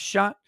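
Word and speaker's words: chat: day i learned that cat in french is pronounced shot and immediately i thought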